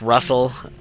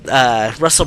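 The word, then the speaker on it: Rusl: Like, Colin's father's name is spelled R-U-S-L. I usually pronounce it just Russell.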